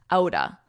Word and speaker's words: out of: Notice the pronunciation of this, because we really combine these two words to sound like outa, outa, out of the blue, out of the blue.